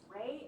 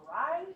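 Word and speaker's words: Reye: He was an Australian physician Douglas Ray or Ry. Both of them they say you can pronounce it either way.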